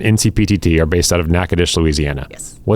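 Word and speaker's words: Natchitoches: looking up this town's name and then try pronouncing it because it is one is not like the other. Nackadish. Yes. Nackadesh, Louisiana. Nackadish, Louisiana. Okay. Nackadesh. You and NCPTT are based out of Nackadish, Louisiana.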